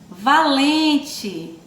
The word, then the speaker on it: valente: Valente. Acompanha aí a tia com a leitura, vamos lá? Valente. Ó, valente tem um som de... se escreve com E, mas tem um som de I, certo?